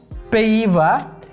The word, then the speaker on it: Pays-Bas: Pays-Bas. Cuando vean una AY, se va a pronunciar. Una primera parte se va a pronunciar E. ¿Ok? Y luego va a haber una I.